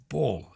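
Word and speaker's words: Baull: Now, we've been talking about cars, and I thought his name was Paul, but it's spelt Ball. B-A-U-L-L. Ball is his name.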